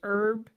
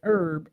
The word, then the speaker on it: herb: And it says American English herb silent H is standard think as herb British English British English herb pronounced H is standard think herb.